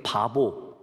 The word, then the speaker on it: 파포스: 제가 구브로 키프로스에 갔을 때 동쪽 끝, 지금 튀르키예 영에서 시작해서 서쪽 끝에 있는, 남서쪽 끝에 있는 바보, 발음이 바보예요 여러분, 파포스라고 하는 그 도시까지 가게 되었습니다.